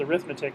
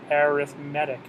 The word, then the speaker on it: arithmetic: called arithmetic sequences so it looks like it spells arithmetic but we pronounce it arithmetic arithmetic so you know if you